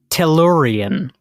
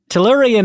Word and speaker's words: Tellurian: your alley okay okay your word today is Toran Toran is spelled t l l u r i a n Toran well Kyle let me assuage any fears you